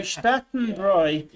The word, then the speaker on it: Bräu: So Spartanbräu, if you write AU in German, is pronounced ow, unless there's an umlaut on the A, in which case it's like an oi sound.